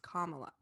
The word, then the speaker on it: Kamala: position that she's in her name is actually pronounced kamala and it's worth i feel like it's worth